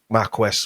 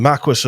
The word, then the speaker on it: Marquis: the Dukes of Douglas and the Marqu Marque Marquest, whatever you want to call it. I got bollocked by somebody for that the other week, pronouncing it wrong. the Marquis of Douglas.